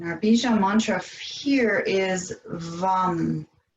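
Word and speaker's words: vam: the abdomen and our vision mantra here is vom it's spelled v a.m. but it's pronounced bum and again it's a long be short a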